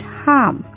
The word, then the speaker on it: harm: Don't pronounce it harm. It's harm, where R is not giving its sound completely. It's harm.